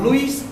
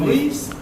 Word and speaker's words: Louis: Have you heard of Louis XIV? Louis. King Louis. Yeah, King Louis. Not Louis. Don't make it sound like Chinese. Louis. Actually, it's a Louis. Actually, it's Louis, but the S is silent.